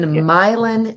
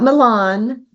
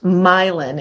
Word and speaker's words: Milan: had to think wow when we close on this property it will be my land my land ah what led you